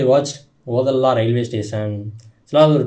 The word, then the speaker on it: Odela: அது வரைக்குமே ஒடேலான்னு தான் நான் அது ப்ரொனவுன்ஸ் பண்ணிட்டே இருந்தேன் நான். அதுக்கப்புறம் தான் தெரிஞ்சு அது ஓதலா அப்படின்னு சொல்லி.